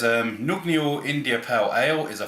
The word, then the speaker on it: Nøgne: It's from, I'm assuming it's pronounced Nøgne, because the O with a cross for it is a O in Norway.